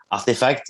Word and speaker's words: RTFKT: so rtf and also the name is pronounced artifact even if we wrote it rtfkt it's because when we we started the company uh we wanted to call it artifact but we couldn't find